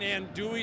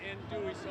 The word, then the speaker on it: andouille: Well, I'm going to taste your little, I can't say andouille, but. You did. Andouille? L's are silent. You did say it right. Andouille sausage.